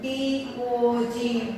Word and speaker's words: dog: D-O-G, dog. D-O-G, dog. The letter is O, but the pronunciation is A.